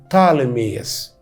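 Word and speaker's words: Ptolemy: المهم ان اسمه اليوناني بطالميوس، وفي اللغات الاجنبيه الحديثه دلوقتي وانت بتتكلم انجليزي يقولوا عليه طالميوس. البي الاولانيه عشان حرفين ساكنين في الاول فما ننطقش البي الاولانيه.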